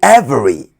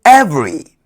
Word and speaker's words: every: Don't say every. The e after the v is silent. So say every.